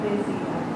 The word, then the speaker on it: desia: Quel che l'amante cor tanto desia. Yeah, and this one especially, don't let it fall back into southern U's.